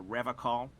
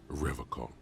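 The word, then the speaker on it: Revachol: to stay strong for Revol Revol I his gaze shifts to the pile of soggy logs at his feet he pronounces Revol with a hard K unlike other people you said Revol I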